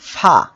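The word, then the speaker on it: ف: এই অক্ষরটা ফা। আমরা সবাই একসাথে উচ্চারণ করি, ফা। আমরা একসাথে বানান করি, ফা জবর ফা। নিচের ঠোঁটের পেট সামনের উপরে দুই দাঁতের আগার সঙ্গে লাগিয়ে ফা অক্ষরটি উচ্চারিত হয়।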